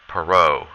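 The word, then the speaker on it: Perot: someone named H Ross perau it's a French name that's why we don't pronounce the t uh so H Ross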